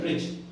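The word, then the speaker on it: bridge: है ना ठीक है ब्रिज तो बी आर आई दी जी अब इसमें दी है पर दी इसमें क्या है साइलेंट क्यों क्योंकि जीके पहले आया है ठीक है फ्रिज है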